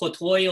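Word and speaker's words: אַתָּה: the Eloheinu Melech Hayolam, and they're pronouncing the Kamatz with an O on it, okay? So I always get a kick at it because Sephardic Jews don't say that. Sephardic Jews says Baruch Atah Adonai Eloheinu Melech Hayolam.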